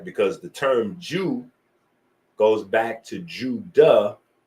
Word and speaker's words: DJou: It's pronounced Jew. is pronounced Jew, right?